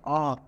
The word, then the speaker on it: awe: AW इसको उच्चारण करते हैं और, ठीक है।